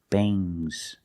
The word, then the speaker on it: bangs: Remember with NGS, it makes a soft G. Bangs.